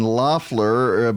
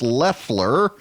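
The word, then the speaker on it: Loeffler: of this habit now I've been saying Lafleur but it is pronounced Leffler and she made her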